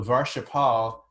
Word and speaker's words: varshaphala: paula means fruits so varsha pal is actually how it should be pronounced but just in modern day parlance it's being pronounced as varshaphala but yeah varsipal varshafa